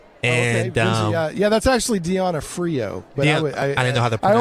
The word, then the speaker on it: D'Onofrio: Yeah, that's actually Deanna Frio. But yeah, I didn't know how to pronounce it.